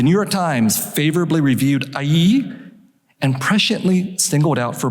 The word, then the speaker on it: Aiiieeeee!: Orientalism appeared in 1978, four years after the publication of the most important anthology of Asian-American literature, Aiiieeeee! That is spelled A-I-I-I-E-E-E-E-E exclamation point.